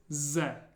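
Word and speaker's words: З: the next one is Ze Z is pronounced like the English z sound Z the way I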